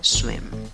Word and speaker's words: swim: Escribes esta palabra con cuatro letras, pronuncias con cuatro sonidos, tiene una I, pero una I cortita, no la hagas larga. Swim, swim, swim. Ok, acaba en M, no te comas la N final.